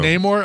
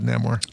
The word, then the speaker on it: Namor: Neymore. Okay, thanks. Yeah, that's one that uh that uh I think I've always mispronounced them because I've always said Namore.